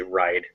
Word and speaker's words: write: not um they are they are the same r sound you don't actually go writer you just say right it's spelled with a w because in older forms of english that actually what you're saying was true um but it's no longer true in modern english they're both just wr yes okay so anyway